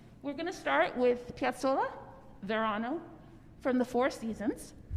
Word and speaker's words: Piazzolla: pronounce his name and it's piazzolla with a hard s despite the fact that it's an italian name with a bunch of z's similar to pizza and true argentine will